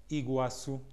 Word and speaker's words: Iguassu: we have a very special guest with us Iguazu that's how he pronounces his own name he was who is